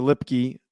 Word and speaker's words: Lipke: like okay i did learn how to correctly pronounce hunter lipky uh based off of their broadcast but hunter